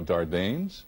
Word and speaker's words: Dardanes: and now i'm going to botch up this pronunciation i know dardanes right correct thank you hi guys namaste welcome